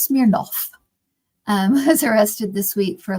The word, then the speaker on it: Smirnov: Alexander Smirnov, pronounced Smirnov, was arrested this week for lying to the FBI and Commerce Committee.